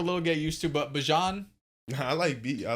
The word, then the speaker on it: Bijan: Also, one thing that changed from the last time we recorded to now, Bijan Robinson pronounces his name differently. What? It's Bijan. It's Is it Bijan really? Robinson. Bijan Robinson. Not I Bijan.